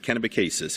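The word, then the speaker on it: Kennebecasis: For those of you who are from away, that might seem an odd pronunciation, but that is how we pronounce it. Kenacasis.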